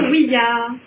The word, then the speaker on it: ouija: En fait, tout simplement parce que ça vient du français, oui, et de l'allemand, qui veut aussi dire oui, et qui se prononce ya. Donc on doit prononcer oui ya.